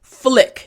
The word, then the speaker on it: flick: Front teeth, bottom lip, and then immediately your tongue for the L sound needs to touch the roof of your mouth.